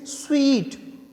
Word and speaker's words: suite: सो हम इसे क्या बोलेंगे, इसके बेसिस पर तो सूट बोल देना चाहिए, बट इट इज़ नॉट सूट, इट इज़ स्वीट, स्वीट, इट इज़ स्वीट।